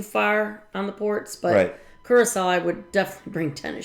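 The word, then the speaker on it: Curaçao: We just experienced that in Curacao.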